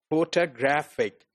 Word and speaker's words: photographic: at this word photographic, the actual stress is on photographic, right? But contrary to the syllable like t and ik, we have another level of stress which is given to the first syllable, which is pho, right?